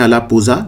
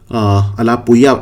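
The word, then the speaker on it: Alappuzha: इसको वैसे लिखते हैं अलापुजा, लेकिन अलापुया इसको प्रोनाउंस करते हैं, यहां पे बनेगा।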